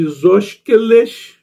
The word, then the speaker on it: isósceles: Seria a união de isósqueles, não sei se é assim que se pronuncia, né?